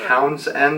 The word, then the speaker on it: Townshend: guys how last year this is called the town's end with lamb or Townshend the dam it's a very weird spelling and pronunciation T o WN SH E and D anyways awesome little bridge